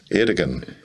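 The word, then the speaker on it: Erdoğan: So he won this mayoralty, and I don't know how the premier, how do you pronounce his name? Erdogan. Erdogan? Mm-hmm. Erdogan.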